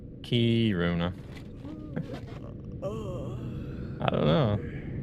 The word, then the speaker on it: Kiruna: I always found Americans say Karuna funny. Why do you guys say Karuna? Kiruna.